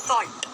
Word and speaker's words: salt: सॉल्ट, अब आप यहाँ पर देख रहे हो कि एस को स का उच्चारण दिया जा रहा है, श नहीं बोला जा रहा। सॉल्ट, सॉल्ट, सॉल्ट, नमक, सॉल्ट, नमक।